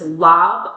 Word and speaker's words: Laab: What we have for you today is a dish referred to as Lob, L A B, or in some areas it's pronounced Larv, L A RB. Lob is a dish that comes to us from Southeast Asia, primarily Laos and Thailand.